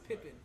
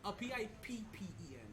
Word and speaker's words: Pippen: It's spelled P-I-P-E-N. Pippen. P-I-P-P-E-N. Pippen. Pippen. Okay, it's Pippen.